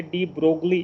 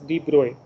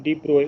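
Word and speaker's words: de Broglie: હવે આનો ઉચ્ચાર ઘણી બધી જગ્યાએ ડી બ્રોગલી એવો તમે સાંભળશો. The actual pronunciation is ડી બ્રોય. Okay, this G and L are silent. ડી બ્રોય is the actual pronunciation of this.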